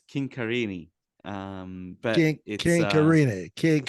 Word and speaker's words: Chincarini: It's actually an Italian surname, so it's Chincarini.